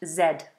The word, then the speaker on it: zed: out in America is z in British English zed zed there you go um how do you pronounce oh good word radan good word has